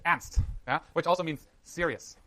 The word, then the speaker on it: Ernst: The American pronunciation is of course Ernst because it's like Ernie and Bert, but in Germany it's Ernst, yeah, which also means serious, right?